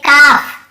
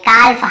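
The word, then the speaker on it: calf: जैसे काफ, काफ, काफ, हाफ, हाफ, काफ, हाफ, एल को यहाँ पे नहीं पढ़ना, काल्फ, हाल्फ नहीं पढ़ना, काफ बछड़े को बोलते हैं, हाफ यानी आधा। L silent.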